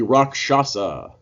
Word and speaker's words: Rakshasa: most people have been most people ignore the fact that there's an sh in the middle of the word but before we get